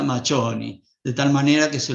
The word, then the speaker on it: Macioni: Macioni, que se escribe así en castellano, se pronuncia Machoni, de tal manera que se lo va a escribir como Antonio Machoni.